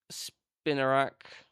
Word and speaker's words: Spinarak: So we got the EX Mega Skarmory, and we got the two reverse hollows, which is um, Spinarak.